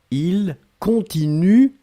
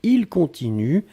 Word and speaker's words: continuent: et ici le pluriel, il continue, U-E-N-T. On écrit E-N-T, on ne prononce pas. D'accord? Donc il continue, C-O-N-T-I-N-U-E-N-T.